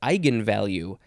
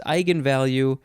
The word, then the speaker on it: eigenvalue: synonym the synonym is eigenvalue e i g e n v a l u e all one word i'm gonna say it's pronounced eigenvalue and then their next